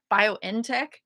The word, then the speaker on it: BioNTech: 5 to 11 if the Pfizer BioNTech vaccine, BioNTech, is that how they say it?